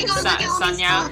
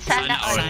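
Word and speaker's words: sana all: How do I say it with the correct pronunciation? Sanya? Sanya? Is it Sanya? Sana Oil.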